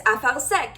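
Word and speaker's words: אפרסק: and the way that you say it is afar sek, and the way that you spell it is aleph pei resh samech kuf.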